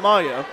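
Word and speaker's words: Miah: the point for ncoe Maya m-i-a-h but it's pronounced Maya there's a server from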